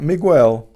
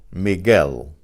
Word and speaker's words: Miguel: Not Miguel, Miguel.